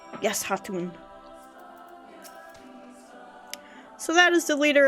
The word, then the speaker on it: Khatun: Yes, Khatun. I think they say Hatun, though, right? The K is silent. Yes, Hatun.